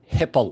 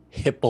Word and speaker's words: HIPAA: By the way, it's HIPAA laws, not hippo laws.